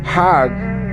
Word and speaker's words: Hajj: around the circles now Hajj is the pilgrim to Mecca Haag is the Egyptian pronunciation hug in Hebrew means